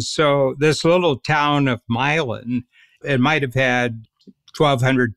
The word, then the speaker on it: Milan: it was called Milan same as Milan Italy but it's pronounced milin in the 1820s and